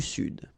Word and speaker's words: sud: L'Amérique du Sud, here you should pronounce the D, sud, sud, okay? L'Amérique du Sud, all right? So one more time. L'Europe, l'Asie, l'Afrique, l'Amérique du Nord, l'Amérique centrale, l'Amérique du Sud.